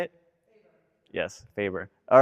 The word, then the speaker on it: FABER: Yes, Faber.